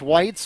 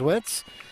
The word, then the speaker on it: Witz: Lexi Witz, whose name I incorrectly pronounced Whites for probably the first half season that she was on the team before somebody finally told me that it was Witz.